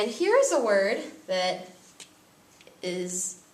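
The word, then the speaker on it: hay: here's a word that is not really that tricky to learn I not like the word hey it's not pronounced the H remember I it means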